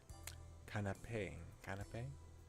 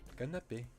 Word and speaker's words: canapé: Canapé? In English though, how do you pronounce it in English? Canapé. Apparently it's French.